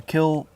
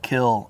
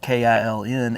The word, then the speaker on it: kiln: The the uh kill gets about 2400° Fahrenheit. Wow. That's incredible. And you notice I'm using the word kill.